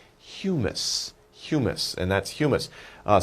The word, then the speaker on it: humus: Maybe not funny sounding, but you pronounce it humus.